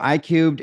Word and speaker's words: iCubed: how it specifically applies to couples right so I cubed is you know the Cub comes from it looks like I3 a lot of people pronounce I3 but I Cub because I was a math